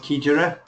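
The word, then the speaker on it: Xigera: Kijera is pronounced Kijera.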